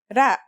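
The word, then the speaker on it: ر: our first letter is it's closest English counterpart is the letter R but it's a different sound that must be learned R it's not too hard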